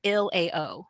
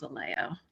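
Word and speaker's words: ILAO: role at um uh so ill-a-o right is how you say it is how we say it it rolls off the tongue yeah Illinois legal aid online and we call ourselves a Leo yeah thank you Janet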